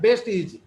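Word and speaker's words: Vestige: Opportunity दे रहा है, वो है वेस्टीज, जो कि इसका सही उच्चारण होता है बेस्ट इज।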